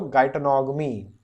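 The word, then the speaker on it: geitonogamy: मन में प्रोनाउंस करो गाइटोनॉगमी। ठीक है, गाई GEI, गाइटोनॉग, नॉग मी, गाइटोनॉगमी। ठीक है, सभी कर लें तो यस सर बोल देना, गाइटोनॉगमी।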